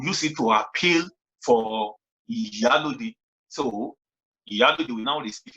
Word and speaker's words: Iyalode: when it was mentioned that I think it's Iyalode. Am I pronouncing it correct? Iyalode.